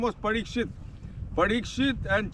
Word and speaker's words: Parikshit: Palace his name was parikshit parikshit and chitti parishit and chitti is a mispronunciation of parishit he was the king